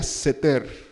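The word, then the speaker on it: סתר: al abrigo del altísimo esta palabra buscándola en hebreo se pronuncia setter 7 y se está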